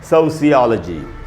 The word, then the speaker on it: sociology: देखिए इसका जो बिल्कुल सही उच्चारण हुआ है सोशियोलॉजी, सोशियोलॉजी, सोशियोलॉजी, लॉजी नहीं होगा, जैसे साइकोलॉजी नहीं होता साइकोलॉजी, टेक्नोलॉजी नहीं होता टेक्नोलॉजी, वैसे ही पढ़ेंगे सोशियोलॉजी, सोशियोलॉजी।